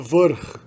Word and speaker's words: vrh: quanto no alfabeto cirílico, é o uso do R com uma vogal R. Então a gente tem, por exemplo, bagagem é pronunciado prtljag. A palavra topo, cume, é pronunciado vrh. E a palavra magro é pronunciado mršav. Meramente coloca-se o R e a gente já sabe que esse R é o núcleo da sílaba.